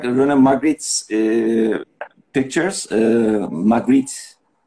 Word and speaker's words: Magritte: Magritte. I think it is pronounced like this, René Magritte.